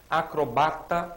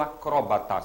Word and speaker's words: acrobata: prosódia mas importantes palavras que TM dupla prosódia acrobata ou acróbata você vai observar sempre que uma tem acento e a outra não tá acrobata ou acróbata mesmíssimo sentido hein mesmo sentido dupla prosódia Zangão ou